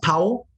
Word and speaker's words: Powell: you got special guests i got carl paul powell is that how we pronounce the powell yes sir so carl welcome to the show